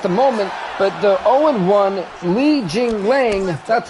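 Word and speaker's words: Li Jingliang: But I'm really intrigued because right now Alan Jabal's rocked at the moment, but the 0-1 Li Jing Lang, that's how you say his name, is taking on the 0-2 Alan Jabon.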